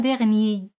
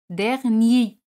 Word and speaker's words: dernier: Hemos dicho que el mes pasado, le mois dernier, R no se pronuncia. Le mois dernier, ni.